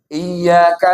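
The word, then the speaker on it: إِيَّاكَ: Iyyaka na'budu wa iyyaka nasta'in. Iya berarti iyanya tasdid. Dia bacanya biasa.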